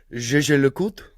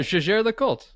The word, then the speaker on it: Jaeger-LeCoultre: hit this, maybe Ripley, give us your best pronunciation of JLC without saying JLC. Jaeger-LeCoultre. That's maybe worthy of an edit. Ariel, give us your best effort. What? Jaeger-LeCoultre. Kevin. Jaeger-LeCoultre.